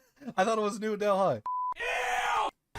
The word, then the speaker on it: Delhi: How was I supposed to know that H is silent?